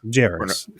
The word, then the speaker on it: Jarrus: Yes, Jarrus. Is that the right pronunciation?